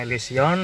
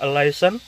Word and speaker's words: Elysion: Jadi di sini adalah Honda Elysion Baker, maksudnya Honda Elysion, maksudnya tulisannya Elysion, tapi gua bacanya Elysion aja ya.